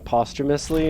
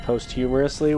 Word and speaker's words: posthumously: Thank you, game, for saying posthumously instead of posthumously, which is what I thought was the way that you pronounced that word.